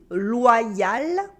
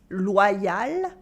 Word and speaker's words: loyal: Anyway, the same pronunciation happens with quite a few other French words such as loyal, easy to translate, repeat after me, loyal, loyal. Another one is royal, royal, royal, and incroyable for incredible.